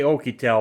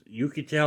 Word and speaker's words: Oukitel: smartphone oh i oh i say okie tell but it's spelled o u k i t e l i think it is yucatel or okitel let me see i'm